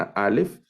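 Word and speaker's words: אלף: primera letra por ejemplo Esta alef es muda no tiene un sonido específico en algunas variantes del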